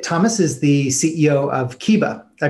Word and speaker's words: Kihbba: So, Kalani Thomas is the CEO of Kihbba. I pronounced that right, correct?